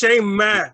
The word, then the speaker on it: Shayma: Like, what's Shaymay? I'm Shayma. Shaymay. Shaymay. And it's not like I was 1,000 times telling the men that is not how it's pronounced. It's Shayma.